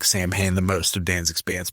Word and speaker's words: Samhain: Danzig's next band uh Samhain, that's how he pronounces it, not Samhain, uh will cover the song.